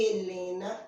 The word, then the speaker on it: Helena: H mais E faz E de hélice, E de Helena, se escreve com H maiúsculo Helena.